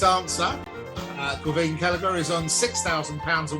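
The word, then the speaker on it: Caoimhín: I can't pronounce his name. Austin, give me the name of our Irish goalkeeper. Kelleher. Keefe. Quaveen, isn't it?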